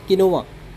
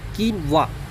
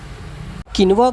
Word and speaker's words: quinoa: you are not alone a lot of people mispronounce kinoa some say kinoa others say quoa but guess what both are wrong the correct